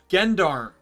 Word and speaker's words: Gendarme: in a cut scene she said genmeer or gen gendarme she gave she used the hard g and prior to that